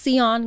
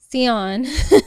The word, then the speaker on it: Tsion: Asia ASI a TS i o n it's pronounced seon guys seon don't get it wrong yes and then if